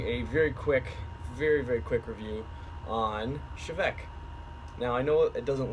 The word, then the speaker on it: Té Bheag: I'm going to be doing a very quick review on Chivec. Now I know it doesn't look like it from the title on the bottle there, but it is in fact pronounced Chivec or Chevec, not teabag, as a lot of